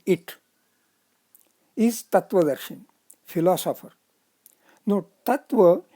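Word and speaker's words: तत्त्व: No, Tattva is Tat plus Tva, having syllables Tat plus Ta plus Va. Syllabic structure of Sattva is also similar, Sat plus Ta plus Va. The Ta is doubled, the in-between Ta is doubled. That is what is to be noted. Even in pronunciation and also in writing, that double ta has to be written.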